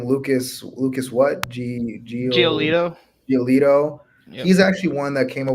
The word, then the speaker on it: Giolito: Giolito.